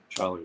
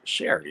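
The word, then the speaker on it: Scherry: hello fellow Elvis fans Charlie welcome oh no it's not Charlie it's Sherry I'm sorry s c h e r Sherry I think I'm pronouncing that correctly so it's good to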